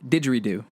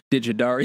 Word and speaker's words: didgeridoo: Digidario. Digidario. Didgeridoo. Yeah, Digidario. It's popped into my head. So anywho. So the correct pronunciation is didgeridoo.